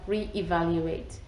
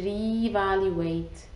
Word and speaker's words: re-evaluate: read them correctly because if i would put it without the hyphen you will read it to reevaluate like a long e but if you add a boot here a hyphen that will help you read it correctly re-evaluate as two words and so that's with